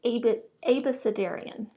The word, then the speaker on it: abecedarian: I realized it's Abecedarian, I guess is how I was supposed to pronounce it.